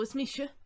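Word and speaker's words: is mise: So is mishe, that's how you say I am.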